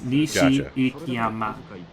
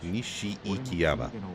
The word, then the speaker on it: Nishikiyama: for the most part, when you hit a vowel, like that's the end of the syllable. So it's Nishi-ikiyama. Nishi-ikiyama.